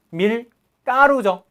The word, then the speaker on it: 밀가루: 밀까루죠? 밀가루 밀가루를 안 해요.